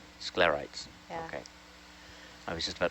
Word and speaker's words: sclerites: color of scares am I pronouncing that correct scarites okay I was just about to say am I pronouncing that right no rock and what are sclerites uh sclerites are like little um can you